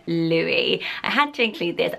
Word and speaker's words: Louis: But Louis, spelled the way that Kate and Will do, is pronounced as I'm pronouncing it now, with a silent S at the end, and it is stunning.